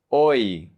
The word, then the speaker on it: hoy: The H is always silent in Spanish. You never pronounce it. It's invisible. It's like you don't see it. For example, hoy, hoy, today.